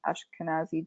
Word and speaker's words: Ashkenazi: pharmacogenetic issues such as ashkenazi gene jews and i probably butchered their pronunciation of that no you got it yes yeah and they